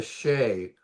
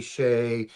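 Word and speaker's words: sidhe: This is the same transliteration for the Sed or the Seday s i d h e pronounced She, Shay, Sed a hundred different ways through the different transliterations.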